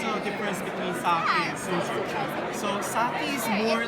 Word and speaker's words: soju: The product you're looking at is called soju. It's the most popular spirit in Korea, just like sake in Japan. So I mispronounced by just saying that it's sake, but